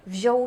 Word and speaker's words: wziął: But be careful with pronunciation, because there are some unusual connections, for example: Piotr got married ("wziął ślub"). We read "ą" and "ł" together as "oł".